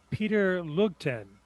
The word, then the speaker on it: Peter Lugten: Peter Lugten. I hope I'm pronouncing that somewhat correctly.